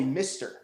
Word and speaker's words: MiSTer: tell you about and it's it's called a mister it's spelled m-i-s-t-r and and this isn't what i